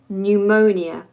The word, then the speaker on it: pneumonia: down for you now pneumonia it has a silent P a lot of words